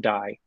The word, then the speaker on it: Dai: Dai people I vote I've always heard it pronounced die by the way like you're rolling a die but I think so